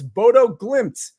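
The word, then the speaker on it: Bodø/Glimt: no I I wasn't even listening to the pronounciation here but I believe it's Bodo glimps money line minus 125 Martin green how did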